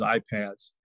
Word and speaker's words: iPaaS: you'll hear me probably refer to it as iPads uh so that's kind of the way in